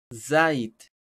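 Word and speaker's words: זית: recordemos, se dice zait, zait, ya, zait. No es sayit, es zait, para el que le gusta ahí pronunciar bien.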